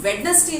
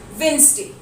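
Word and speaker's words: Wednesday: वेडनेसडे ही पढ़ा है, लेकिन वेडनेसडे जो है वो बिल्कुल गलत उच्चारण है. The correct pronunciation for the word वेडनेसडे will be वेंसडे. वेंसडे.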